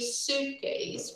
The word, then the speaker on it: suitcase: pronounce this word please suitcase we don't pronounce the letter i okay so we packed a big suitcase because we stayed for